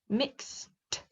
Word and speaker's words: mixed: get it yelled yelled can you hear the sound at the end mixed yelled they've got different